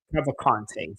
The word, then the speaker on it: Cavalcanti: Cavalcanti, sorry, that's the proper way to pronounce her name.